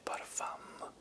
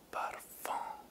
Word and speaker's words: parfum: che non si dice parfum, non si dice, no, non si dice parfum, perché se dici parfum sei un ignorantone, si dice parfum, la M diventa quasi una N nella vera pronuncia, tant'è che un mio